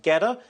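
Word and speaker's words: GETTR: I believe it's pronounced Getter.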